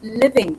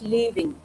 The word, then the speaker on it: living: of improvement is required like for example I'm living not leaving okay I'm living in